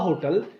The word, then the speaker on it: hotel: A hotel is, people used to write a hotel, but sometimes whenever H is silent here, we say an hotel. When H is silent, that is called hotel.